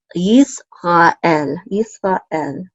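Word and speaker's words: ישראל: So we're going to close this out to say yis, yis. And then we have a resh again here with a kamatz. And so this will say ra, yis, ra, and then an aleph with zere, and then the lamed together will say el. So Yisrael, Yisrael. And of course this is Israel.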